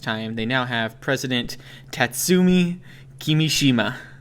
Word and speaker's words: Tatsumi Kimishima: They now have President Tatsumi Kimishima. Oh, I got that pretty good, I think. Yep, I think you got it perfect there. I looked at it and just went syllable by syllable.